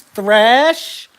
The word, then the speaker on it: Thrash: players the names James thrash James thrash if your name rhymes with trash I'm supposed to trust